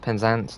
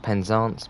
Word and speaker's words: Penzance: sure as horizon looks to say hi it's pronounced penzance not penzance must like red yeah you will get it